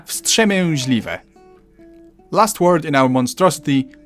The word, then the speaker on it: wstrzemięźliwe: Wstrzemięźliwe. Wstrzemięźliwe.